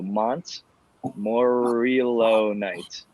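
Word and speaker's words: montmorillonite: he ever added eight cups i'm probably gonna mispronounce this monto no mont morillo night it's m-o-n-t-m-o-r-i-l-o-o-n-i-t-e have you ever heard of that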